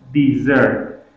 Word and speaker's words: desert: deserted the desert everyone this is a verb so we pronounce it dessert dessert means abandon quit